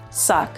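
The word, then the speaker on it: suq: help you really remember these words s-u-q or suck c-i-n-q or sync q a j a q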